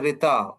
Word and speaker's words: Rta: RTA which is pronounced as a retita which means the natural order of the universe.